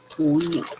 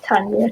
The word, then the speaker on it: Tonya: Tonya. Yeah, not Tanya, Tonya.